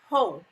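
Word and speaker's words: Heaux: to hotels it's and it's spelled h-e-a-u-x whole like it's french whole is that whole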